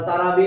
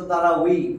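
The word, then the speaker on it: تراويح: আমরা তারাবি বলি, আসলে তো তারাউই, তারাবিন নামাজ বলি না, আমি বা বলি, বা তারাবি, তারাবি না তো, তানবিন না তো, তানবিন।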